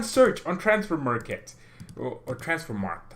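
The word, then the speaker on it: Transfermarkt: on transfer market or transfer mark I kept saying Marquette's but I never knew how to say it transfer mark it takes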